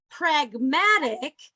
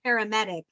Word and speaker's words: pragmatic: I would like us to say pragmatic, say that. That was the problem, Eric. You sounded like you said paramedic, I think, or something like that.